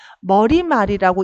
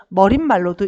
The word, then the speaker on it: 머리말: 머리말이라고 읽어야 된다는 논리입니다. 근데 사람들은 머릿말로도 읽습니다. 머릿말로 읽는 사람은 시오 표기를 넣어서 틀리게 되겠죠. 그리고 이거 가지고 발음 테스트를 한다 그러면 머릿말이라고 발음하는 것 자체가 틀렸습니다.